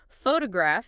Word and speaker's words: photograph: Word stress is about which syllable in a multisyllable word receives the strongest emphasis, like photograph is stressed on the first syllable, but photographer is stressed on the second.